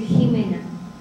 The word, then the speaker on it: Jimena: no sé cómo dijeron se dice Jimena como la esposa del s Y entonces me llamo